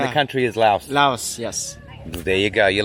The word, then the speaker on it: Lao: Do I pronounce it Laos or Lao? Laos means country. Lao with no S, it means the people. The people. So Yeah, the people are Lao and the Yeah. country is Laos. Laos, yes.